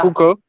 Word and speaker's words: Foucault: Pronuncia... Foucault.